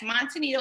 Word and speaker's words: Monte Nido: Monte Nido and Associates? Yes, Monte Nido and Affiliates.